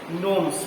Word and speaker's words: gnomes: Okay, G will be silent, gnomes will be pronounced.